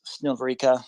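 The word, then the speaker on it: Снігурівка: I love the fact that you say, I don't know how to pronounce Snihorivka. You pronounce it correctly, then you say, I know how to pronounce Davidiv Brid, and then you mispronounce it.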